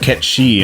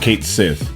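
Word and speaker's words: Cait Sith: Yes, it's actually pronounced Ketshi and not Kate Sith.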